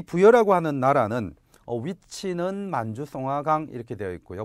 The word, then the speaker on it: 송화강: 이 부여라고 하는 나라는 위치는 만주, 송화강 이렇게 되어 있고요. 보통 송화강, 송화강, 숭화강 뭐 이런 식으로 중국식 발음을 쓰기도 해요.